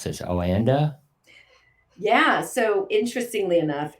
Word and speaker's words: OANDA: at um was it um how do I pronounce this oanda yeah so interestingly enough it's o and a so it's oanda but it's olon and Associates